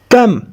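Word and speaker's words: comb: کم کم بی په دې ځای کې بی نه تلفظ کیږي.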